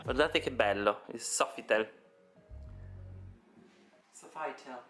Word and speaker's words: Sofitel: Comunque siamo al Softitel. Guardate che meraviglia. Guardate che bello il Sofitel. Sofital si dice comunque.